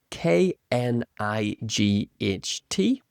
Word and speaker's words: knight: This is spelled K N I G H T with a silent a K, a silent K, knight.